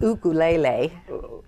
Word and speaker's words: ukulele: got coming the third book is called um ukulele undercover which in Hawaiian it's pronounced ukulele so but I always because we say it